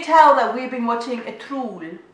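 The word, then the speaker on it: Ertuğrul: So can you tell that we've been watching a Trul? They don't pronounce the G, so it's more like a Trul.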